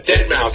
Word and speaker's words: deadmau5: Mouse it's it's a dead mouse and he spells it it's so weird cuz it's spelled dead and it's m auau and then the number five and all he does